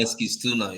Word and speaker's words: Eskilstuna: going to see if I remember how to pronounce this correctly. AFC Eskilstuna. Yeah, you're right. A. Eskilstuna. AFC Eskilstuna.